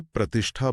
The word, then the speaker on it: प्रतिष्ठा: अगर आप सही से प्रतिष्ठा बोलेंगे जिसमें षट्कोण वाला श और ठठेरे वाला ठ आता है तो स्पेलिंग में कभी गलती नहीं होगी।